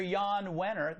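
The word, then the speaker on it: Jann Wenner: own rolling stone founder Yann winner the J is silent like his readers controlling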